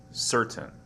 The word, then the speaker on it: certain: of the word certain normally it sounds like certain C C there is a very faint T sound here and the vowel sound is not really uh heard it's kind of a awah sound here and dictionaries they show